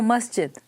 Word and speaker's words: masjid: There is an S there. Masjid. M-A-S-J-I-D. Masjid. Mosque. Okay. Yes. That's okay. No, so masjid is a name.